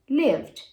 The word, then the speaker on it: lived: Depois do você só faz o D que é aqui. Tá? Nunca mais lived, vai ser lived. Lived. Lived. Beleza? Então você já viu aí duas formas de pronunciar o ED que não é falando ED. Uma é som de T, a segunda é som de D, tá?